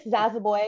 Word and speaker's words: Zoboi: Zaza, how do you pronounce it? Yeah. I'm Miss Zazaboy, and my name is Liberian.